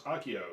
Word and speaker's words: Akio: I know how to say the first one's Akio.